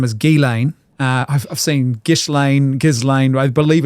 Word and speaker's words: Ghislaine: the correct way to say her name is Ghislaine.